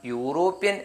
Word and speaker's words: European: ഉദാഹരണം, EUROPEAN, ഉച്ചാരണം യൂറോപ്യൻ എന്നാണ്, ഒരു യൂറോപ്യൻ.